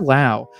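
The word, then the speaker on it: Laos: For years now, since I've become a communist, and I actually found out that Lao is, and yes, the S is silent, is a socialist nation.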